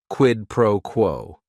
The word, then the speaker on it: quid pro quo: Quid pro quo. It is 3 words. Each word is only 1 syllable.